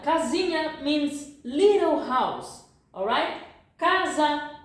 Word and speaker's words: casinha: How do I pronounce this? This pronunciation is equal. I think you know. I'm gonna make you a little bit hungry now. You know lasagna from the Italian? Yeah, pasta. So tasty. Lasagna. It's the same as an H in Portuguese. Lasagna. You see? Or if you speak French, you have mignon.